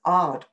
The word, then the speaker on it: Aad: always referred to as Ard et al, because the first author listed, they were listed alphabetically, and the first author is spelt AAD, so it's listed as Ard et al.